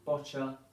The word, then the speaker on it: Boccia: game it's it's pronounced botcher sounds like gotcha but it's spelled b-o-c-i-a so if you're looking that up on the computer it's it's about b-o-w-c-i-a bocha sounds like gotcha botulism